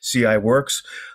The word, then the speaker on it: CIWRX: president of CI works that's how they pronounce that particular name that's ciwrx CI works and uh ciworks is